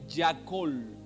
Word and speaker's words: Yakol: En el original se escribe Yakol.